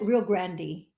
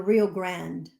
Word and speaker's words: Rio Grande: that though really well so locals call it real Grandy okay you don't live in the RGV they call it the Rio Grande okay so we call